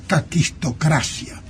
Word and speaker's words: caquistocracia: Se escribe las 2 veces con K y se llama caquistocracia, que quiere decir gobierno de los peores.